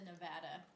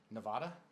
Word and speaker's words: Nevada: So I picked Africa, and then I just said Nevada. Nevada?